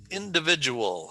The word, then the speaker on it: individual: So there are 5 syllables in the word individual. Where is the emphasis? Where's the emphasis? Which syllable gets the emphasis?